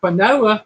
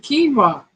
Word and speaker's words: quinoa: He said, "Quanoa."